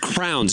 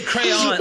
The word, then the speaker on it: crayons: Crowns. You got a 64 pack of crowns. Yeah, hand me the crowns. That's not the word. It's almost like you say crayon, like crayon, the crown.